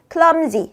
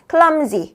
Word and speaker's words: clumsy: clumsy, z 발음으로 오셔야 돼요. clumsy로 안 되고요. clumsy, z 발음으로 발음 잡아줘야 된다라는 거 같이 하실게요.